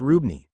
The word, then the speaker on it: RWBNY: which will now become RWBNY an pronounced Rubin." Like combining Ruby and Ebony together.